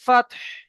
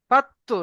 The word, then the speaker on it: فتح: إذا جاء نصر الله والفتح ফাত্তু নয়, ফাত্তু নয়, কলকলা নয়, ফাতহ, বলেন, ফাতহ, فتح হা উচ্চারণ করেন, فتح ফাত্তু নয়, ফাতহ,